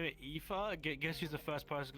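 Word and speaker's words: Aoife: the Alfie it was it was a o i f e but you know that's you know supposedly pronounced epha EPA which we're not going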